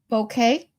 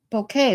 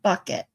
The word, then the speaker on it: Bouquet: It's pronounced bo bouquet or bokeet. Bouquet. We say bouquet like a flower bouquet.